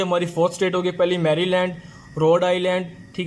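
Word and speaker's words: Maryland: तो एम से दोस्तों बनेगा हमारे पास मैरीलैंड, मैरीलैंड, इसको मैरी नहीं पढ़ना, मैरीलैंड पढ़ना है।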